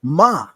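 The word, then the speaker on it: מה: when you want to say another interrogative which is what it's pronounced ma yes so this is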